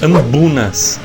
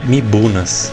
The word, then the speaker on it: mbuna: No caso são os ambunas. Ambunas. A pronúncia é meio estranha. É uma palavra do dialeto chitumbuco. Por isso tem essa pronúncia meio esquisita. Palavra africana. Eu sempre falei errado. Eu sempre falei mibunas.